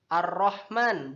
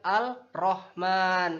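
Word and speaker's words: الرحمن: bukan al-thariq kemudian huruf roll ar-rahman bukan al-rahman itu salah satu contoh dari alif lam syamsiah nah di dalam Quran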